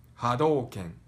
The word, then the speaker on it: Hadouken: and all together one more time it is hadouken hadouken hadouken so again we actually have all this one's a bit easier to pronounce because it doesn't have you already are